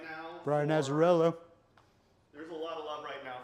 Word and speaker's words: Azzarello: How do you pronounce it? Brian Azzarello? Yeah. Yeah. Brian Azzarello.